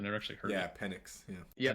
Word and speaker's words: Penix: Penix. Yeah, Yeah, Penix, Penix.